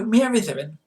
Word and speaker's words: Mieridduryn: So, Mieriddian um is how you say it, and not as one uh YouTuber uh basically gave up and called it Binks, which is imaginative at least, but you know.